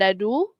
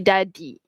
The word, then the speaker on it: dadi: Bukan dadu tapi dadi.